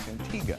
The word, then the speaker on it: Antigua: I can't say Antigga. Antigga. Antigga. Thank you very much. Yeah, we'll uh we'll see you next time. I'll work on this. Antigga.